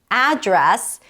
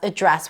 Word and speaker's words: address: However, one little caveat is that in the US, the noun address can also be pronounced as address. What's your address? So, address and address can both be a noun. The verb is only to address. You can't say I'm going to address the issue.